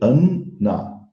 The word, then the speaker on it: Anna: Agora, veja bem, se nós analisarmos o nosso corpo mais denso, o Annamaya Kosha, Anna, porque a pronúncia é Anna, são dois N's, Anna.